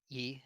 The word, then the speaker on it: Ye: Yee, is that how you say it? Is it Yee or I Yay? believe Yay is Yay, okay. okay. Like Kanye, okay. Yeah, see, Uh, yeah, it's Yay.